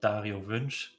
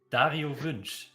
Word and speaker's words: Dario Wünsch: And I'll let Toby pronounce his name. Yeah, also, okay, my fanboy moment, greatest player for me in StarCraft, Dario Wünsch, TLO. Okay, one more time. Dario Wünsch, TLO, the little one.